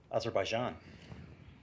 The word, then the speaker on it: Azerbaijan: In 2013, election watchers in, I don't know if I know how to pronounce that. Azerbaijan.